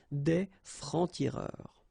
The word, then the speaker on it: des francs-tireurs: Un franc-tireur, and then plural form, exactly the same rule, des francs-tireurs.